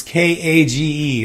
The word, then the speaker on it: Kage: Legend of Cage. It's Kage. That's how it's spelled. That's why it's an argument.